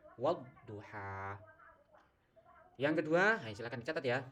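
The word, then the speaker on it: والضحى: Jadi membacanya wadduha ya, bukan wal duha tapi wadduha.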